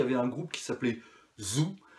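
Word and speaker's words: Thou: Ensuite, il y avait un groupe qui s'appelait Zoo. Alors Zoo, ça s'écrit T-H-O-U. Je crois qu'ils sont aussi sur Arte Concert, je vous le conseille.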